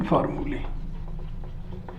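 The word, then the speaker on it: formulae: Inversion फार्मूली, फार्मूला का plural है, इसको उच्चारण करते हैं, इसका प्रोनाउंसिएशन फार्मूली।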